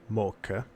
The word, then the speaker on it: Much: So when Little John and Much, or Mocha, or Moch, as the text will have you pronounce it, depending on exactly how